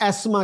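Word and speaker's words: asthma: जहां पर फर्क था एजमा में है जैसे अमेरिकन एजमा कहते हैं ब्रिटिश एस्मा कहते हैं लेकिन वो भी टी एच को साइलेंट ही रखते हैं सो अगर आप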